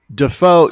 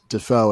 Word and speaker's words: Dafoe: people whereas like defoe like looking at daffo you would think you would be pronounced defoe and not defo yeah i think that's